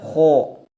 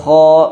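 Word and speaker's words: خ: wakifah tidak dibaca wif kesalahan yang sering terjadi pada pengucapan huruf k yang keempat adalah memonyongkan mulut Khususnya ketika fathah k bukan koho akh Ikh ukh aku aki aho I Kho u khu i khi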